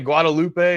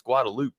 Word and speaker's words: Guadalupe: And I was calling it Guadalupe, and people are just like, "You ain't from here, dude, are you?"